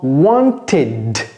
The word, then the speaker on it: wanted: Alors, pourquoi prononce-t-on ce verbe want au passé simple en wanted?